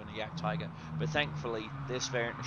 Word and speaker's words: Jagdtiger: It is pronounced Jagdtiger.